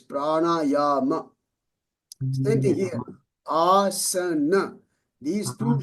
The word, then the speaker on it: prana: Now this one is not a bar on top. So it's prana. It's not prana. It's prana.